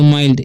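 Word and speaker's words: mile: एल से ल, तो इसे पढ़ेंगे माइल, ई का उच्चारण यहाँ पर नहीं होगा, ठीक है।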